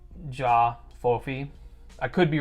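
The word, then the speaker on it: J'ba Fofi: j apostrophe f b-a-f-o-f-i i think that the b is mostly silent so it's going to be the jaw fofi i could be wrong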